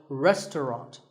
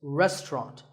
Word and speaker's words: restaurant: fancy spelling confuse you the second syllable is just ton and the third is wrought so restaurant in British English you might hear just two syllables restaurant that is also correct after you eat at